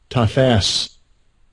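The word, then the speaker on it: תָּפַשׂ: Tafas. Tafas. Alright, more correct pronunciation would be tafas.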